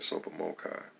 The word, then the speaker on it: TSOPAHMOCCI: issues rules analysis concerning t-s-o-p-a-h m-o-c-c-i pronounced super mochai and come up with